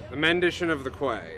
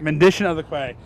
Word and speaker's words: The Mendition of the Quay: I mispronounce the first word all the time. The Mendition of the Quay. Mendition of the Quay.